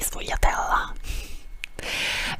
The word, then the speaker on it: sfogliatella: Okay, sfogliatella, like it is pronounced in Campania, in a dialectal pronunciation.